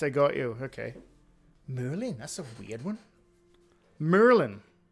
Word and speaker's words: Maryland: We pronounce him Merlin.